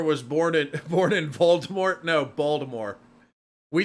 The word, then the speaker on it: Baltimore: a total Muppet but it's with a t Baltimore Baltimore with a t Baltimore but if you have the Maryland accent say Baltimore and you say it like it as a d instead of a t that's a very it's